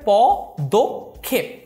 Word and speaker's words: পদক্ষেপ: হচ্ছে বিদ্রুপ পদক্ষেপ এখানে যদিও আমরা দেখতে পাচ্ছি কোন ওকার নেই কিন্তু এর উচ্চারণটি হবে পদ খেপ সরস্বতী যদিও এটা দন্তস্য